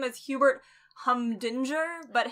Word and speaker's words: Humdinger: his name is Hubert hunger but his name is spelt humdinger and the whole time